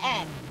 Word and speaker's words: X: And it's pronounced X, not T or 10. No, just X.